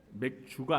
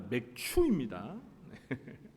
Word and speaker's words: 맥추: 발음을 잘 하셔야 됩니다. 맥주가 아니라 맥추입니다.